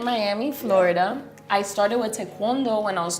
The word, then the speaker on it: taekwondo: I started with tawondo when I was 2 years old. You say it properly. Taekwondo.